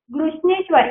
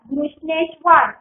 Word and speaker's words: घृष्णेश्वर: जैसे G H R U S H घृष, N E S H नेश, W A R वर घृष्णेश्वर, घृष्णेश्वर ठीक है, घृष्णेश्वर.